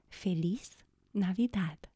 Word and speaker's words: Feliz Navidad: But the way that I know how to pronounce this phrase is Feliz Navidad.